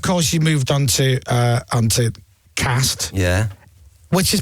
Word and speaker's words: Cast: And then, of course, you moved on to Cast. Yeah. Which is pronounced Cast.